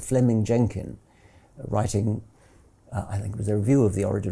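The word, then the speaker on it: Fleeming: was simply it's written in fleaming which is pronounced Fleming Fleming Jenkin was simply saying manifest facts are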